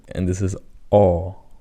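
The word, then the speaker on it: ㅓ: So the key difference between these two is that when you pronounce this one, you have smaller circle of your lips. So you have O compared to this, and this is Aw.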